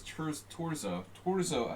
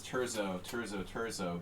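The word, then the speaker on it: Torzó: And it's so tempting because everyone says Terzo, but it's not Terzo. It's Torzo Attila, not Terzo.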